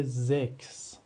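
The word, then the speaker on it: sechs: اگر بعد از حرف س و ها حرف اس اومد س و ها ما صدای ک میده مثل چی دوستان مثل زکس زکس به معنی عدد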